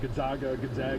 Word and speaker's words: Gonzaga: Gonzaga.